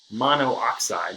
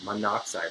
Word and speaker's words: monoxide: one oxygen we're gonna put em on oxide mono oxide but we would pronounce it monoxide because it's not a second Oh what we